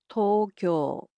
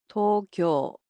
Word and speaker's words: Tokyo: The capital of Japan, Tokyo, in Japanese is pronounced as Tokyo. Tokyo. So, it's similar to English except the O sounds in it are a bit longer.